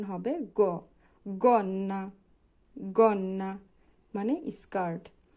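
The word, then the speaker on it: gonna: এর পরে যদি ও থাকে তাহলে হবে গ উচ্চারণ হবে গন্না গন্না মানে স্কার্ট জি এর পরে উ আছে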